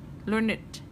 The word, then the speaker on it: learned: Thì các em hiểu rằng là ở đây người ta cho cái từ này là learned. Chúng ta đọc là learned.